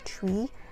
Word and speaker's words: Twi: The Zimbabwean in me just want to say Twi, but it's actually pronounced as Twi.